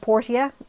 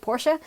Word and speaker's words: Portia: with with the name it is unfortunately called portia uh because that's how they pronounce it in the game and i'm really sad because i've always called it my time of porsche because i think it sounds nicer and it